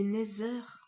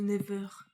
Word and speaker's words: Nether: C'est Nether ou Never? Nether, oui, parce que Never, oui, non, c'est pas la même chose. C'est Nether, donc sûrement qu'on ira dans le Nether.